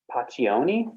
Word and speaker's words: Pacioni: It's by Paccioni. So his name is spelled Pacioni.